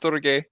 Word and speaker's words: storge: It is pronounced storge.